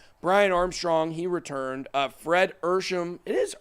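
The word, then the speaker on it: Ehrsam: Fred Ersham. It is Ersham. I think the one spelled his name wrong the other day.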